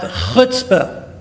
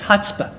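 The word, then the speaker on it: chutzpah: Jewish to have hutzpah of course only we Jews can pronounce it they say oh my he has such Hot Spot hotspot can you believe what he just he just that he's got hotspot and by the way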